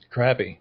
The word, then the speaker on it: crappie: you all right pronunciation crappy or crappie crappy okay me too outdoor or nature related